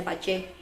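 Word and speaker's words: 八字: Ya kalau boleh cerita, sharing sedikit, saya juga waktu dibacain chartnya lewat Feng Shui yang namanya Pace, tulisannya sih Bazi tapi katanya bacanya Pace.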